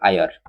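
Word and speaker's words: heir: इसी को अभी हायर मत पढ़ोगे। ठीक है? उसी को पढ़ोगे कैसे? आयर मतलब उसमें साउंड क्या आया? ई का साउंड आया।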